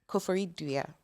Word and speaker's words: Koforidua: Coast in places like, you can correct my pronunciation, Nsawam, Koforidua, Koforidura. Sure. I'm really trying. Like, I learned, like, yesterday I was sitting there like, let me learn how to pronounce these words. In Sawam, you got right. Koforidua. Koforidua. Akuse. And Kumasi. Yeah. You got it. Sounds right to me.